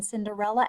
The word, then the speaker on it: Cinderella: did you spell Cinderella did you know that the CI is gonna be safe in Cinderella and there are four syllables in here Cinderella so it's a four syllable word right there lost her